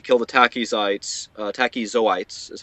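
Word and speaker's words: tachyzoites: oyes need to kill the tachis sites uh tachis zoites is how you say it and uh that's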